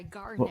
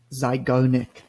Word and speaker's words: Zeigarnik: I was like, I don't know how to pronounce it. Zygo, what Zeigarnik. was it? Zeigarnik. Zygarnik.